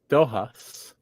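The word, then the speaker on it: dóchas: Irish for Hope is doas and a rhymes with this other word in Irish duas which means tradition but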